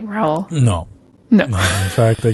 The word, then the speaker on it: Raul: Raul. Oh my God. Oh, that's interesting. So, roll your R's.